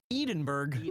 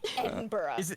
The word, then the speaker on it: Edinburgh: Edenburg. Whatever, bro. Sorry. I can't let that one slide. I'm American. Iron my letters. Fine. Edinburgh.